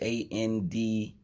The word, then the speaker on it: Andrade: He's working with an artist called Day, Andrade, pronounced A-N-D-R-A-D-E, Andrade.